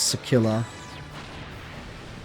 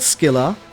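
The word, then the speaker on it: Scylla: You mean sila isn't pronounced sila? Yeah it's not skill. It's sila in English at least.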